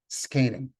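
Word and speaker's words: זקנים: But it is pronounced skanim, Moshe skanim.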